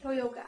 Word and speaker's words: Toyooka: I am here today with the lovely Catherine Toyooka. Hello. Is that the correct pronunciation? Toyooka. I'm sorry. So Catherine Toyooka, who's joined us today from California.